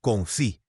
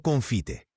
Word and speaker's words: confit: La pronunciación correcta es confit, no confite.